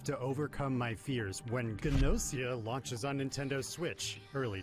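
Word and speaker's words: Gnosia: tonight you'll be fine i wasn't sure if it was genocida or nausea because gn is usually can end with the silent g if that makes sense it's a fascinating spin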